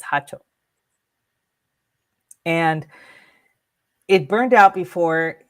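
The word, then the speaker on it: jacho: So, he lit his hato and for those of you unaware, it's spelled J A C H O. Hacho. The J is an H sound in Spanish. So, it's Hacho.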